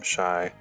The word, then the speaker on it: Shai: So you spell it S-H-A-I, first name Shy, Lynn, L-I-N-N-E, and the song I'm talking about is called The Jealous One.